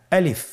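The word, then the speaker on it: ألف: বলতে হবে বলুন আলিফ আলিফে কিন্তু কোন টান নেই আপনারা বুঝতে পারতেছেন আমি যখন আলিফ বলছি এর মধ্যে কোন টান হবে না আলিফ আবার বলুন আলিফ আলিফ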